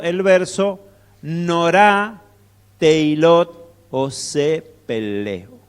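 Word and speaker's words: פלא: O algunos dicen Felé, pero esta letrita acá al principio de la palabra, que es una P o una F, al estar al principio de la palabra se pronuncia como una P.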